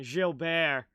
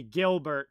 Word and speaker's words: Gilbert: the French pronunciation there Ace that's the French pronunciation Jill Bear so yeah the the more tra like American way of saying it would be Gilbert but the French pronunciation is Jil taken now